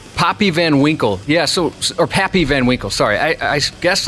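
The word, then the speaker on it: Pappy Van Winkle: always get pissed off when they can't get papy Van Winkle that's how you say it all right fair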